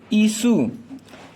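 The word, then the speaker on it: issue: इशू बनाते रहते हो, यानी कि आई का मतलब यहाँ क्या होता है, यानी कि इसका उच्चारण ई के रूप में हो रहा है।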